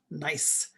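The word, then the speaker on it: gneiss: bedrock is called fordham nice g-n-e-i-s-s it's pronounced nice nice like schist is also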